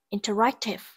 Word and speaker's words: interactive: Đáp án C, interactive. Interactive, từ này có trọng âm rơi vào âm tiết thứ ba.